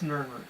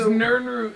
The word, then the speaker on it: Nirnroot: You mean Nirnroot? It's Nirnroot. It's spelled Nirnroot? N-I-R-N root.